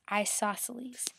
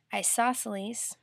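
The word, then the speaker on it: isosceles: wasn't hard to read but it's isoceles and it's spelled i s o s c e l e s isoceles isoceles triangle has two of the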